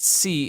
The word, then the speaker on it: See: haven't read the podcast, C is spelled like you see, not C like the letter.